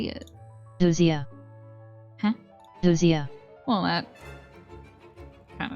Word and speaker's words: ousia: Ousia.